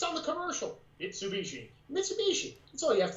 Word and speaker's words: Mitsubishi: name of her car which is which is mitsubishi and she pronounces every single time like mrs species and i'm like what and she says it